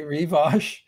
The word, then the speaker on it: Rivoche: pronunciation guide so uh some people say revos and I I started saying Revo because I thought it sounded more I just more dignified or something I don't know so